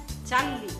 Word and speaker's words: চার্লি: আমার নাম হচ্ছে চার্লি। চার্লি? এই তো আন্টি, এবার আপনি একদম ঠিক উচ্চারণ করে ফেলেছেন।